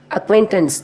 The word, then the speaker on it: acquaintance: Here, acquaintance, A-C-Q-U-A-I-N-T-A-N-C-E, acquaintance. Here we are giving more stress to C. Actually, C is silent here, but in pronouncing with A and Q, we are giving more stress.